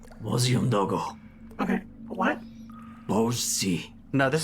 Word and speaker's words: Umdogo: Bozi Umdogo.